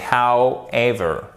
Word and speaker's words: however: Alors attention, on ne prononce pas le W, c'est however, ok?